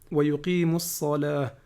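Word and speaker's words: ويقيم الصلاة: lettre qu'on appelle solaire, on ne prononce pas le lam. Exemple ici. وَيُقِيمُ الصَّلَاةِ. On va pas dire وَيُقِيمُ الصَّلَاةِ. Ok.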